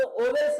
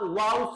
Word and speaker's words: vowels: देख रहे हैं, तो आप इसको ओवेल्स नहीं बोलना है, इसको बेटा आप वाउल्स बोलेंगे।